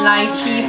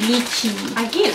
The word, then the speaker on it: lychee: This is Team Tam coconut and lychee flavor. We haven't tried this one yet. Lychee. I hate it when people pronounce it as lychee. It's lychee.